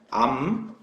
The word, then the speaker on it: 암페어: 단위는 A라고 쓰고 읽을 때는 암페어라고 읽어요.